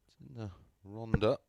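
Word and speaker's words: Rhondda: i'm never going to get that right 100 a welsh pronunciation of course ronda 99 famous of course over the years for producing many many champions 99 south wales of course 180.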